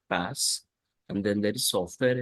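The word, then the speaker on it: PaaS: platform as a service we pronounce this as pass and then there is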